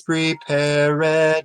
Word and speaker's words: prepared: that separates sad okay so anytime you see an IDI word you always stress the IDI right you always stress that ed ending grieve ed see there's